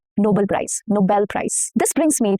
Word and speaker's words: Nobel: And same goes for Nobel, not Nobel Prize.